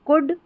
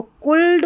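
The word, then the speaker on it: could: फिर है OULD को उड़ करके पढ़ेंगे, जैसे कुड, वुड, शुड। अब इसको कुल्ड, वुल्ड, शुड ना पढ़ें, तो कुड, वुड, शुड, क्योंकि L जो है ना इसमें साइलेंट है, ठीक है।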